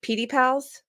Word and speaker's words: PediPals: Um, so, um, is it is it PD pals? Yeah. So, I pronounce it correctly.